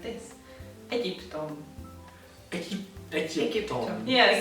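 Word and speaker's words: Egyiptom: Egyptom. Egyptom. Yeah, so the G and the Y that you say like G in English, it's a J sound.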